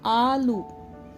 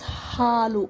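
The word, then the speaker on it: ಹಾಲು: Sometimes people will mistake this ha with a. They say alu. There is no word called alu in Kannada. This halu.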